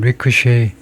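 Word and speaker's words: ricochet: 그래서 그걸 찾아보면요.에 에 리크 이게 아마 브로에서 나와 가지고 치발음이 아니고 쉬바음 리크셰이 쉐바음이 나올 것 같은데 리크셰이 리크셰이 맨 앞에 리크셰이라고 하고 rebound 공이 튀어오른다는 건데요.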